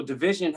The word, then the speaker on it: DVSN: But yeah, so Division had one. Division had an album in 2020 that I really like. DVSN is how they spell it, of the newer.